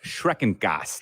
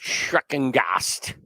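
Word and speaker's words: Schreckengost: Yeah, I believe it's pronounced Schreckengast. Schreckengast.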